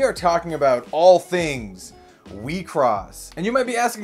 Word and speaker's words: WIXOSS: this trading card game we cross and that's how you say it it's actually a smash up of wish cross has officially